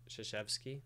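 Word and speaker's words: Krzyzewski: heart by uh mark zuchevski who's a by the way that's spelled c-r-z-y-z-e-w-s-k-i even though it's pronounced totally differently the basketball coach at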